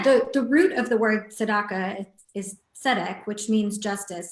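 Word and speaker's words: צדקה: Tzedakah, or Tzedakah, which is justice.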